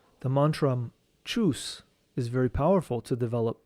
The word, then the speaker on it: chus: The mantram chus is very powerful to develop the solar plexus chakra. This mantram is pronounced like this.